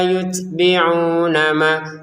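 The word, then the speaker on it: يُتْبِعُونَ: Tumma la yutbiunama la dua harakat. Yutbiuna tnya kita keluarin nafas sedikit. yutbiuna ini dua harakat kemudian nun langsung ke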